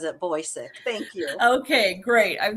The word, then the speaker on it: Bocyck: further Ado I bring to you author Roxanne boisik all right yeah can you please share your